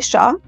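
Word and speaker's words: Shah: क्योंकि मैं अभी जब लिख रहा था तो आई वाज नॉट श्योर कि कैसे प्रोनाउंस करना चाहिए. सो शादी से पहले मेरी लास्ट नेम थी शाह.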